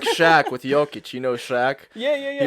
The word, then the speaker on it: Jovic: here we have how's it pronounced yic yic yic yic happy to happy to